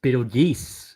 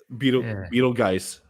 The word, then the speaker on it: Betelgeuse: Like that's his actual name, but they knew that everyone would say it wrong. So on the title screen, it's just, all right, this is how it's supposed to sound like, so everyone knows how to say it.